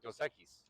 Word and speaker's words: Dos Equis: Because every time I go to a bar and I'm like Dos Equis, because that's how you would that's the Spanish pronunciation. That's the Mexican pronunciation.